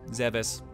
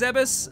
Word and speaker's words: Zebes: And I believe it's pronounced like that. I used to say Zebes, Zebes, Zebs, a lot of different names. Zebes, I think, is what I've kind of settled on now.